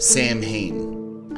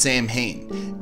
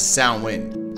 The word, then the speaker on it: Samhain: a fan of Ghostbusters, Samhain. Actually, the modern Irish name is pronounced Samhain, and in Scottish Gaelic as well, it is the Manx Gaelic pronunciation that is Samhain, a dialect of Geotic Celtic from the Isle of Man.